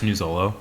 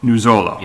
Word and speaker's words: Nuzolo: last name for me sure it's new Zolo new Zolo okay I didn't want